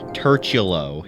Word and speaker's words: turtulo: Finally, shout out to how the fuck do you pronounce that again? Turchulo.